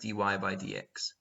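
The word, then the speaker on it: dy/dx: you get d y over dx which is pronounced dy by dx right and this stands for the differentiation of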